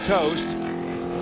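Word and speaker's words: Toste: off his car have the impact for Tony toast is spelled TOS te ver pronounced toast and he's in the wall and meanwhile some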